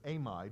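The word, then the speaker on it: amide: take n h2 minus which is known as aim ID which is spelled exactly like a mad but it is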